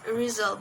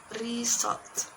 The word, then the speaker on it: result: They tend to replace sound Z with sound S as in the word result. In English, this word should be pronounced in result, but is pronounced is result.